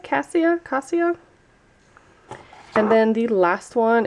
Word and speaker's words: Cassia: Cassia, I think is how you say it. Cassia.